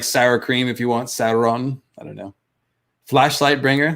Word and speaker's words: Sauron: I say Sauron because I think about dinosaurs. That's where he drew the S-A-U-R, Saur, you know. But they say Sauron in Lord of the Rings.